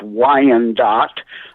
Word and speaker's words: Wyandotte: southern suburb of detroit it's pronounced wyandotte after the wyandotte indian tribe that you know had